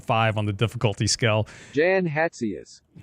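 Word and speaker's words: Jan Hatzius: Actually it's it's kind of based between German and Czech.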